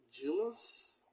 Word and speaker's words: Giles: Chief uh Dan Giles I think it's pronounced Giles it's jills but I think him call him Giles yeah and his wife